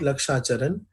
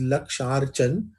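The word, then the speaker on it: लक्षार्चन: luck sergeant it is some people mispronounce it they say luck Sharan it is not luck Sharan it is luck chargin which is made up of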